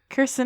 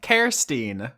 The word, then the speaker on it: Kirstine: Kirsten Hasslinger. Nope, Kirstine.